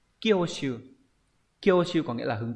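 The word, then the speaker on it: 興趣: Chữ hứng và chữ thú đọc là Kyoshu.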